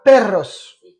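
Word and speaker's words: perros: mal not gustan los peros attention à la prononciation per y a de r exactement parce que si on ne met qu'un r ça donne per pero qu'est-ce que ça veut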